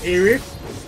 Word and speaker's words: Aerith: I always call her by with the TH, so Aerith.